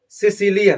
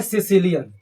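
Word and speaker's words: caecilian: Spelling क्या है भाई? बड़ी tough spelling. C ए E sorry C ए ई सी आई एल आई ओ एन सिसिलियन नाम का एनिमल होता है।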